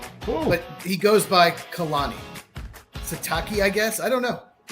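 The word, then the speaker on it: Sitake: Keani Satake. So, it's Si T A K E. Uh, Satake. His real name is Kiaoa Kalani. Cool. But he goes by Khalani Satake, I guess.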